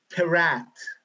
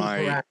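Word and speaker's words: Peratt: Remember the work of Anthony, I believe his last name is spelled, or rather is pronounced Perat, but I could be wrong. Anthony Perat.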